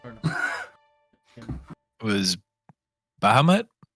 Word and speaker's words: Bahamut: It was Bahamut? How you say it? Bahamut.